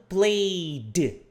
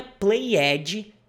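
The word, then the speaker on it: played: por exemplo play jogar passado Play de não é Play Edge é Play de Tá bom agora próximo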